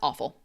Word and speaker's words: offal: That That's awful. It's poop. So, but it also sounds like the word awful, meaning it's a h it's a homophone.